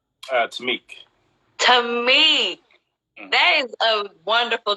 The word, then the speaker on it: Taimak: Like it's supposed to be Taimak, but right, but it's called it Taimak.